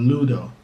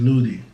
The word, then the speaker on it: Ludo: In the Caribbean, I think worldwide, if they know it, this is called Ludo. In Jamaica, we pronounce it as Ludi.